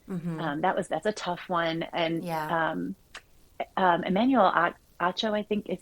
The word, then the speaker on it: Emmanuel Acho: And Emmanuel Acho, I think is how you say his name.